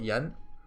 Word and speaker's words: yen: like, for example, in Japan, yen is pronounced as N. I think we just misunderstood them, so in the West we call it yen.